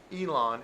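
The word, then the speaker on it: Yilan: but this is um we went to um elon and this is the elon area where we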